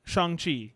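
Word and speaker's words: Shang-Chi: make the case for I don't even know how to pronounce it I have no idea shangi that is how you say the correct CH uh I think it's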